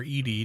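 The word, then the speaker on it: ED-E: There is Eddie, or Edie depending on how you want to pronounce it, an Eyebot wired for reconnaissance.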